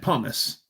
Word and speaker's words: pumice: Had pumice, yes. Got killed in the shockwave. They were at a military airfield racing jet plane. The truck blew up. Ooh. Actually, it's Pumice. Pumice. That's how it's spelled.